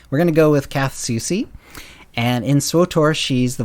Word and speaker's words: Kath Soucy: kath soucy and i looked up how to pronounce her name uh there are some people who claim it's katsuki but i i found an interview where said